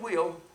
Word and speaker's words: Whewell: On the other side, William Wheel that's spelled Whewell, rejected Babbage's reforming direction.